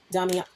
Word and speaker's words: Damiana: I think it's damiana. I hope I got it right this time. Oh my god. Damiana. So, it's pronounced damiana.